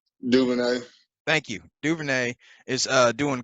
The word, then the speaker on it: DuVernay: The Hollywood Reporter has a 6-episode Netflix series uh, that Ava I can't pronounce her name. DuVernay.